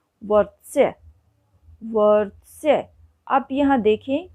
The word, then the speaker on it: वर्त्स्य: स्वर रहित व्यंजन हैं, लेकिन र का उच्चारण आप देख रहे होंगे कि व के बिल्कुल बाद में उन दोनों स्वर रहित व्यंजनों से पहले उसका उच्चारण हो रहा है।